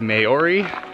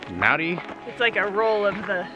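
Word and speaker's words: Māori: our driver is a Maori person it spelled em a o RI to us it looks like Maori but it is pronounced Maddy and they are the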